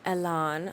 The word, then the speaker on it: Elan: you guys on those Alain strawberries. I was pronouncing it wrong in the previous videos. It's Alain. I guess you can pronounce it whatever way you want really, but as we have